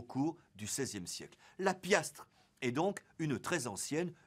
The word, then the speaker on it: piastre: ou de cent mais de piastre prononcé Pias et dessous sympathique survivance